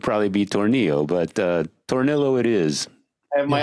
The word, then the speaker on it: Tornillo: name right by the way how do you pronounce it uh tornillo okay yeah until he goes like you know